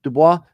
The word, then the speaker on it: DuBois: Ado I'd like to introduce you to DUIs am I pronouncing your last name correctly I was yeah